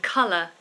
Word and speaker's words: colour: So again, that's a schwa ending, humour. And colour.